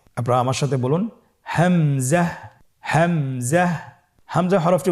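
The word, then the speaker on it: همزة: হামজা হরফটি উচ্চারণের ক্ষেত্রে বারিক করে উচ্চারণ করতে হবে এবং এখানে টেনে পড়া যাবে না। দ্রুত পড়তে হবে। আপনারা আমার সাথে বলুন হামজা হামজাহ হামজা হরফটি উচ্চারণের স্থান হা এর মতই।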